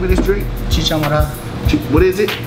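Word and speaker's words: chicha morada: It's called chicha madero. I'm not sure that's how you say it. Let me ask my man right here. How do you pronounce the name of this drink? Chicha madero.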